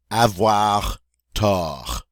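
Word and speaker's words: avoir tort: last one ha ha avoir tah we don't say the final T there and F whatta means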